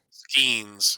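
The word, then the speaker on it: Skenes: Skins. They just go. What? I said it's pronounced skins.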